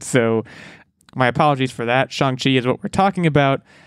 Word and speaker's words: Shang-Chi: of the episode so my apologies for that chongqi is what we're talking about and we have